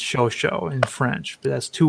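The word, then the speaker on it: Chauchat: so it looks like ciao chat it's actually pronounced ShoSho in French but that's two words so if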